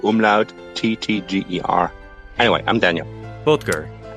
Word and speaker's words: Böttger: Hi, I'm Daniel Böttger, but that's always very hard to pronounce for Americans. It's a B-O umlaut T-T-G-E-R. Anyway, I'm Daniel. Böttger.